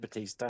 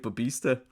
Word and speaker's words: Bautista: Dave Batista. Dave Bautista.